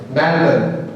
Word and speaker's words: Melbourne: Melbourne is, I don't know, the Australians pronounce it in a very peculiar way. They say Melbourne. Melbourne, something like that.